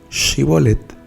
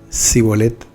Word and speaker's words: Shibolet: Si él respondía no, entonces le decían: ahora pues di Shibolet. Y él decía Sibolet, porque no podía pronunciarlo correctamente, porque pues es algo, ¿sí?